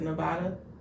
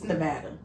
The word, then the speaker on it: Nevada: pronounce differently now yeah I had somebody correct me on I think I pronounced it Nevada it's Nevada the what